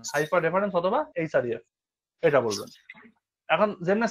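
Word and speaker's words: href: আর F hyper reference আমরা কখনো H rape বা রেপ এরকম কোন মানে প্রনান্সিয়েশন করবো না বা বলবো না উচ্চারণ করবো না আমরা কি করবো আমরা এখানে বলব এইচ আর এফ এইচ আরই এফ অথবা হাইপার রেফারেন্স মনে থাকবে এরকম করে বলবো কখনো রেফ বলবেন না বা এইচএফ এরকম বলবেন না হাইপার রেফারেন্স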